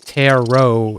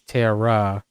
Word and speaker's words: Ptera: It's not Taro, it's Terra, Tera with silent P at the Yeah, people will figure it out.